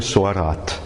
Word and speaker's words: Sorat: écrit dedans - alors ce sont les lettres S, O, R et T, prononcées Sorat.